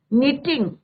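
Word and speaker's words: knitting: My mother was कर रही थी निटिंग, यहाँ पे के साइलेंट रहता है बच्चों, निटिंग मीन्स बुनना, डबल टी आ जाएगा, ING, निटिंग। My mother was निटिंग sweater.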